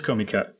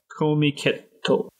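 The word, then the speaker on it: Comiket: I might have said it wrong. Yeah, it is Komiket. Komiketto. I wanted to go when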